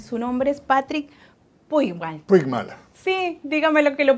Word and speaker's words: Puigmal: Puigmal. Sí, dígame lo que lo pronuncié más o menos bien.